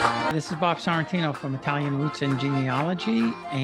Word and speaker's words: Sorrentino: When we were in Italy, here I say my name Sorrentino, right? But in Italy, they roll the R's. It's Sorrentino, Ecco, sì, Sorrentino.